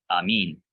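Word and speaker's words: ἀμήν: Yeah, so it's an eta. Amin.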